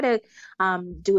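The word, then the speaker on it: TeuxDeux: Another personal habit that's helped me significantly, to-do lists. So I actually use an app. It's called To-Do, but it's spelled T-E-U-X.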